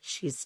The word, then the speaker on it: Sidhe: i d h e is actually pronounced she and it was Gaelic for fairies.